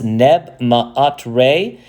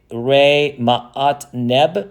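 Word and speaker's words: Nebmaatre: Here is his throne name, which is, we pronounce Neb Ma'at Re. Now, this is called a honorific transposition. We don't say Re Ma'at Neb. We say Neb Ma'at Re, because we give honor to the god by putting them first.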